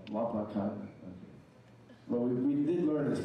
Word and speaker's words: Wapakoneta: Wapakoneta. Did I say it right? No, Wapakoneta.